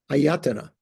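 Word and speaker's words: āyatana: AAS no well okay all the all the vowels are a aayana ayatana okay not autana ayatana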